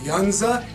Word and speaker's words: Yuzna: movie i'm a huge fan of brian uh younza that's how you pronounce the man's name he has worked with